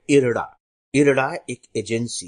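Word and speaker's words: IRDAI: आर डी ए आई लेकिन अखबारों में जब आप पढ़ेंगे तो इसका उच्चारण इरडा इरडा के रूप में किया जाता है रडाई के रूप में नहीं किया जाता तो इसका हिंदी अनुवाद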